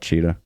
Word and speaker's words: Tschida: It's spelled TSCHIDA. Yeah, we'll put that in the bio for you. Yeah, it's a little funky, but just call it Cheetah.